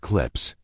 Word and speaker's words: CLPS: The program was called commercial lunar payload services or CLPS pronounced clips.